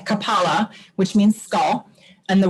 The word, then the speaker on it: kapala: forcing your diaphragm in it comes from the word kapala so the emphasis is on the second a kapala which means skull and